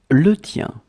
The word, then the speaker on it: le tien: Okay, so let's see how they are and how to pronounce them. Mine, le mien. Le mien, le mien. Yours, le tien.